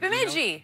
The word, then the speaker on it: Bemidji: Bemidji.